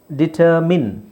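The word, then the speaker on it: determine: words ಇದೆ ನೋಡೋಣ ಇಲ್ಲಿ ನೋಡಿ ಅರ್ಜೆಂಟೈನ್ ಅರ್ಜೆಂಟೈನ್ ಇಲ್ಲಿ ಡಿಟರ್ಮಿನ್ ಇಲ್ಲಿ ಇನ್ ಇನ್ನೊಂದು ಉದಾಹರಣೆ ನೋಡಿ ಇಲ್ಲಿ ನೀವು ಡಿಟರ್ ತೆಗೆಿರಿ ಡಿಟರ್ ತೆಗೆದಾಗ ಈ ಪದದ ಉಚ್ಚಾರಣೆ ಏನು ಬರಿಎಐಎನ್ ಈ ಪದದ ಉಚ್ಚಾರಣೆ ಏನು ಮೈನ್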